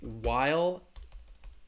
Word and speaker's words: while: phonetic spelling for you I'd say while there is a silent H in there you're not going to pronounce that H sound while a while you're